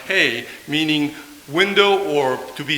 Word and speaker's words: He: And second and last character is pronounced He, meaning window or to be seen.